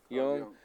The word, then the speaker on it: Jung: come in because that Jung or whatever his name is pronounced young.